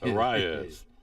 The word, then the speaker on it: Arias: So Arias, I say it right? Arias. Watch this. His old West Virginia boy, phonetically. Arias. Won't miss that anymore. Well, I could be missing it, so I might be leading you astray. No. If Andrew McCann says it, it's gospel. Arias.